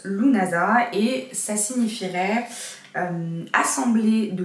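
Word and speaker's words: Lughnasadh: Donc ça se prononce Lunasa et ça signifierait assemblée de loups, donc c'est-à-dire le dieu loup.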